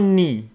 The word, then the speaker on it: knee: foot leg and about knee k n we K before n is not pronounced so we got KN